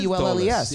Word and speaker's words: Dulles: and fucking, you know, is that how they say it? Dulles? It's Dulles Airport, right? Dallas Airport. Oh my God, is it Dallas? Dulles? Dulles? I believe it's D-U-L-L-E-S, right? Yeah.